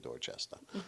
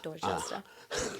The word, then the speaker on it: Dorchester: But as we don't pronounce our R's here, and I mean, and I need to see Dorchester. That's for someone who's in the other side of this window, and you just need to say Dorchester. Dorchester. Just to say it properly.